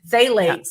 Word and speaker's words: phthalates: good it has a phthalate which is what it's pronounced as starts with the p but phthalates and if you have